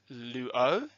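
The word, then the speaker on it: λύω: modified presents active endings using the example of Luo and these are the endings that you are going to have to learn so let's go through them together the first person singular is pronounced as Luo the second person singular Luo ice third-person singular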